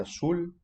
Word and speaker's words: azul: Azul avec un S, enciende avec un S aussi. C'est pas azul ou enciende. Ça, c'est la prononciation espagnole de l'Espagne. Donc, attention, on dit toujours S.